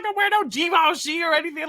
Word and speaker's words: Givenchy: Givenchy, okay.